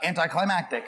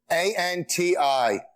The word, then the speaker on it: anticlimactic: not just the moron on the show who pronounced the word tortilla as tortilla. One might conclude your career has been actually quite anticlimactic. Anticlimactic. ANTICLIMATIC.